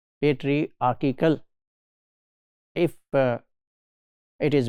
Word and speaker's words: patriarchal: It's not patriarchal. If it is mispronounced in some module, please note today that its correct pronunciation is patriarchal, not patriarchal, like hierarchical. It is not like that. It is patriarchal.